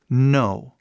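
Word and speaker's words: know: esse k n Então esse k é muito simples ele simplesmente faz som de n m e mais nada o k que tá aí é mudo 100% completamente em todas as outras situações possíveis mudo mais nada por exemplo no isso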